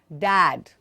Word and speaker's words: dad: Dad. Agar muh nahi kholege, dad will sound like dead. Wrong.